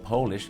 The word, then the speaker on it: polish: คือ ถ้า เป็น สระโอ Polish คือ อะไร ที่ มา จาก โปแลนด์ ประเทศ โปแลนด์ นะ ครับ ถ้า สระเอาะ polish คือ ขัด เงา ครับ โ